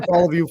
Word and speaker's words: Poliviou: Hey, Poliviou, formerly, Manchester High School and Stockton University.